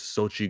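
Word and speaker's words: Xochitl: the spot says X is pronounced like ch. Oh yeah, like the actress Sochi Gomez.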